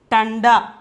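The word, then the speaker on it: ठंडा: That is tanda. Okay, that is tanda. See, simply tada, before we are having bindu, so we have to pronounce it as tanda.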